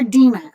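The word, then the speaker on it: Dinah: on, uh, Dena and you're going to hear me call her Dimma. Okay, that is the correct pronunciation.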